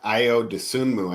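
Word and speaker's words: Ayo Dosunmu: For Io Dosunmu, I think is how you pronounce his name properly.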